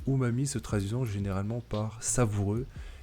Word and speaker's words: umami: Donc, l'umami, prononcé umami, se traduisant généralement par savoureux, est l'une des 5 saveurs de base avec le sucré, l'acide, l'amer et le salé.